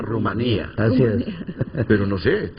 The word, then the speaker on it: Rumanía: las elecciones presidenciales en aquí dice rumania pero la verdad que a mí el profesor Olegario y la profesora Priscila desde primaria me enseñaron a pronunciar Rumanía as pero no sé